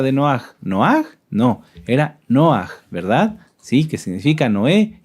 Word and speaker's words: Noaj: ¿Quién se acuerda cómo era la pronunciación correcta de Noaj? ¿Noaj? No, era Noaj, ¿verdad?